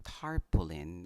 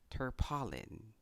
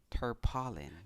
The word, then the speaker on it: tarpaulin: Here in the Philippines, I know that you will agree with me kung sasabihin kong tarpaulin ang tamang pagbigkas sa salitang ito.